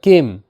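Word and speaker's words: came: কেক বা পিঠা বা কেম সি এমই কেম কেম এখানেও সি এ কে হিসেবে উচ্চারিত এমতে ম ই কিন্তু এখানেও সাইলেন্ট অর্থাৎ ই এর উচ্চারণ হচ্ছে না কেম এর অর্থ এসেছিল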